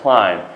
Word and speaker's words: climb: All right, climb. Yani bu climb telaffuz kılığında ne demek? Sanla kendiki B harfini kanda kılmayınız, telaffuz kılmayınız. Bu ne climb B emesine? Ne? Climb.